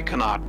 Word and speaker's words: Connaught: I say Connaught, personally, yeah.